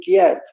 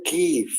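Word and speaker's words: Kyiv: like asking people hey please don't say Kiev say give that that's you'll be the proper pronunciation I think it's because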